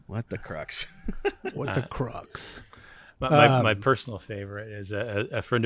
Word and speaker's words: Crux: What the Crux? My personal favorite is a friend of ours said it should be pronounced crooks. Crux.